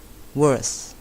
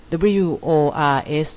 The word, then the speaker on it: worse: อ ย่ า ง น ะ ค ะ worse worse worse แ ย่ ก ว่ า ค่ ะ